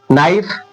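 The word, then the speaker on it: knife: पहले आ रहा है नाइफ नाइफ में भी यही होता है। के के से स्टार्ट होता है ना एन आता है तो के साइलेंट रहता है। लिखने में आएगा पर पढ़ने में नहीं आएगा।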